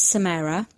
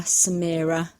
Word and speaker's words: Samara: Her name is Samara. When you see it written down, quite often people think it's Samara, Samira, Samer, whatever kind of convolution of those.